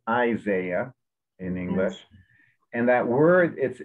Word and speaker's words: Isaiah: english please okay did isaiah prefer professor and why is that important okay so that was a tough word of proximately approximately isaiah has the emphasis on the front so it's isaiah in english and that